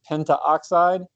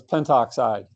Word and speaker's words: pentoxide: your thing your prefixes if they end in an o or an A you drop that o or a so it doesn't become Penta oxide which is literally not how to be pronounced it becomes pentoxide all right so little